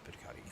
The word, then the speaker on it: Buoniconti: Folks, we got Robert Buoniconti. Is that how you say it? Yes, Buoniconti.